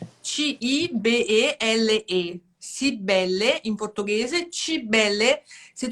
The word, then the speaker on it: Cibele: E aí eles pronunciam o C como che, chi, e eles não falam a última vogal. Geralmente eles engolem a Uhum. última vogal. Então, para muitas pessoas, meu nome ficou Chibel, Ah, Chibel. por causa da pronúncia que eles falam, Sim, né?